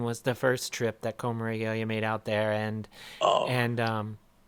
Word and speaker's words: Coma Regalia: I love como, how do you pronounce it again? Oh, Coma Regalia.